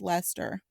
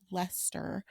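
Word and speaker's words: Leicester: Le oh Earl of Lester I almost pronounced it wrong even though I have in Brackets pronounced Lester directly beside it because I'm like I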